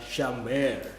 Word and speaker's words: Shamar: Tulisannya adalah Shamar, tapi bacanya di pronounce Hebrew-nya adalah Shamer.